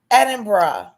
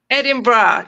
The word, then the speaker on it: Edinburgh: Edinburgh. Edinburgh 10 out of 10.